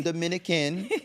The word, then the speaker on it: Dominica: Dominica and not the Dominican not the Dominican Republic it is pronounced Dominica that's how the locals pronounce it and it's a small